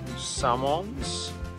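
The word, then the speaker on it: Samoëns: the municipal campsite of samoans that's how you pronounce it um again crazy french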